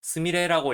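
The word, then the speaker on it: すみれ: 그리고 앞서 설명했듯이 단독으로 쓸 때는 제비꽃을 의미하기 때문에 스미레라고 읽으면 제비꽃을 나타내게 돼요.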